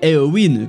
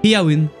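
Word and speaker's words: Éowyn: amis des chevaux et ça se prononcerait en fait pas erwin comme on l'entend mais plutôt bien ir une parce que selon les notes de prononciation et or se prononce et à mai avec le à faible et le y se prononcerait comme lui très m'as allemand où le eu en sait donc ce qui ferait et à win voilà qui est une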